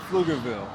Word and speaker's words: Pflugerville: Commonly mispronounced, the suburb that we're filming in today is called Pflugerville.